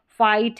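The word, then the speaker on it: fight: जैसे ये नाइट है, फाइट है, ऐसी वाली कई सारी स्पेलिंग्स आपको मिल जाएगी।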